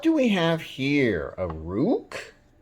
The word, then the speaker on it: Ruike: the budget end so I call it Rook r-u-i-k-e Rook I'm calling it Rook